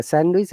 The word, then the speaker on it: sandwich: handsome similarly sandwich yeah sandwich and handsome there is no d sound so it is handsome and sandwich though it will be